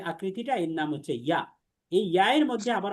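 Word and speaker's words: ي: তাহলে খেয়াল করেন, জিহ্বার মধ্যখান তার বরাবর উপরের তালুর সঙ্গে লাগিয়ে উচ্চারিত হয়। তাহলে এই যে জিহ্বার মধ্যখানটা আমরা দেখতে পাচ্ছি, এটাকে উপরের তালুর সাথে লাগিয়ে আমরা উচ্চারণ করব।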